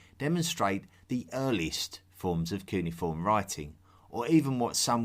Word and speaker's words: cuneiform: Cuneiform. I call it cuneiform, but you will also hear it pronounced as cuneiform.